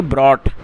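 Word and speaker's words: brought: और इसको प्रोनाउंस कैसे करेंगे? ब्रॉट तो क्या अर्थ हुआ?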